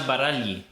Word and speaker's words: Baragli: Anna Baragli. I'm pretty sure that's how you say it. You don't actually pronounce the G. It just kind of emphasizes the L a bit more.